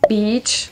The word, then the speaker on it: beach: Beach. Yeah, I always try to really allonger cette syllabe.